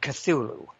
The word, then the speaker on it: Cthulhu: But I pronounce it Cthulhu. And I've heard it pronounced any number of ways, and they're all fine, you know, because they're all approximations to something that human beings can't really pronounce.